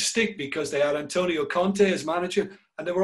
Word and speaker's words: Conte: because they are antonio conte as manager and they were all coming on saying it's Conte and we were trying to say no it's the French it's Conte that's how they pronounce it you can't wait you